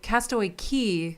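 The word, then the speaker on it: Castaway Cay: confused all right so castaway key c-a-y is pronounced key but coco k c-a-y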